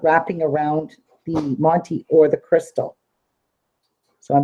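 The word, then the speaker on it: Montee: n t e e and it's a rose Monty and you can get these you can get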